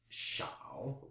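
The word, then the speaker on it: 少: it has the pronunciation shao with an SH. That's S-H-A-O, third tone.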